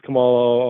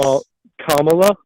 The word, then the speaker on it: Kamala: but watching interviews with Camala on the border. Um, Kamla, at least if you're going to say her name, say it right or just say Harris. Kamala.